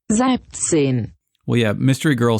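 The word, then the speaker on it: Siebzehn: It is pronounced Sibzine.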